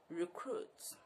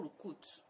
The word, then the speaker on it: recruit: The next word is R-E-C-R-U-I-T, recruit. Not recruit.